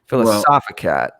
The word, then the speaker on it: Philosophicat: Just anyway, remember, it's accent on the soft, accent on the wisdom. Okay. She's a wise woman. Philosophicat.